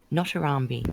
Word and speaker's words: Notarambi: How do I say his name? Notarambi. That's what I say. He's never complained. Notarambi. Yes. That's how you say it.